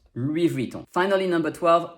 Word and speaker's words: Louis Vuitton: in louis and also the s in louis is silent because s is almost always silent at the end of french word and you have the